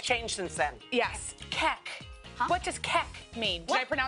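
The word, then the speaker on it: kek: Keck. Huh? What does keck mean? Did I pronounce it right?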